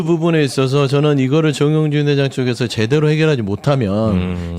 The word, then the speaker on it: 정용진: 주 정영진 아니고 정용진. 정용진 발음 좀 제발 좀 조심 좀 회장 되니까 하시라고.